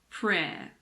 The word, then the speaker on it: prayer: It's silent in the word prayer. Prayer.